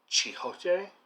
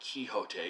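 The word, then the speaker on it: Quichotte: salman rushdie's i think his requested or preferred pronunciation he says in the beginning of the book is uh chihote um it's not kihote even though he doesn't really care as he says how you pronounce it i've read two or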